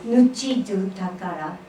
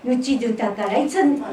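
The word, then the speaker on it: ぬちどぅ宝: Nuchidu takara. Say, repeat, call and response. Nuchidu takara. It's not Japanese language, it's Okinawan language. Let's do it slow 3 times. Nuchidu. Nuchidu. Takara.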